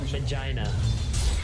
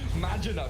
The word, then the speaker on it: Magina: How about Vagina? Vagina. Oh, come on, you can't pronounce it like that. Magina, please.